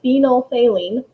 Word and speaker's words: phenolphthalein: it's spelled right there really strange word how you say it is phenolphthalein all right it indicates